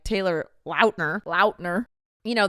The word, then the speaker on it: Lautner: into Fame like Taylor Lautner Lautner you know the peoples just started saying launder and he's like in